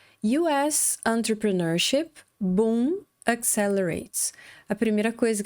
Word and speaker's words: entrepreneurship: Agora, para nossa surpresa, entrepreneurship, veja bem, entrepreneurship, a gente tem 5 sílabas.